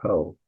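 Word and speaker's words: ὁ: It does have a breathing mark, so it's ho, pronounced ho.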